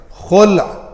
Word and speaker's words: خلع: کو بولا جاتا ہے، غلط تلفظ ہے، لام ساکن ہے، خلع اس کا اصل پروننسیشن ہے عربی میں، تو لیکن میں جو